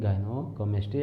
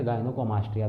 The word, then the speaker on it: Gynecomastia: आज का हमारा टॉपिक गायनोकोमेस्ट्री या गायनोकोमास्टिया भी यूजुअली प्रोनाउंस कर सकते हैं।